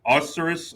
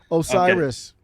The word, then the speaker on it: Osiris: me if i'm wrong your name's pronounced osciros or i'm butchering it i already know oh no it's all good osiris osiris all right yeah